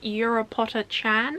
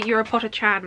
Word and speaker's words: Urupocha-chan: of it here, but I think it's pronounced Urupocha-chan. I think whenever I say that I always think of Europapa from Eurovision.